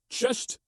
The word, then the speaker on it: cześć: Just imagine you're surprised by a pop quiz and you shout, it's a test, a cześć. Go on, say it out loud, cześć.